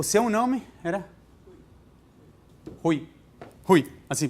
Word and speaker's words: Rui: Rui. Assim, pronunciado assim mesmo?